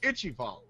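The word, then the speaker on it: Ichaival: Me and Kret looked this up. It's Ichival. I have heard already 5 different pronunciations from people that are supposed to know how to say.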